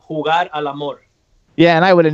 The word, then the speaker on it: Jugar al Amor: it, and then I would know, how to pronounce it. Well, it's a single, and it's called Jugar al Amor.